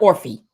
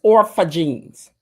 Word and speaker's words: Orpha Jeans: Not Orphy. It's Orpha Jeans. It may be Orphy, but I'm just saying. The way we say it around the way, it's Orpha Jeans. Come on now. Even though it is spelled Orphy.